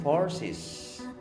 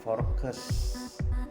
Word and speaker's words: forces: Kemudian forces, diucapkan forces, bukan focus. Ada dari Anda yang mengucapkan focus.